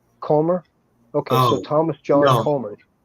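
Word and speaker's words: Kummer: CR K U M R how do you pronounce that? Say again. Comr. Comr. C U M E R. Comr.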